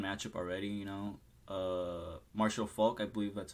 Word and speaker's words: Marshall Faulk: like a fun matchup already you know uh Marshall Faulk I believe that's how you pronounce his name right yeah that's correct the